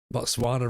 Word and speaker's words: Botswana: Botswana rhymes with llama but has no llamas.